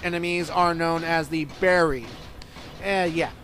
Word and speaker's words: Bari: are known as the berry and yeah barry or the bari if you want to pronounce it like that and they've appeared in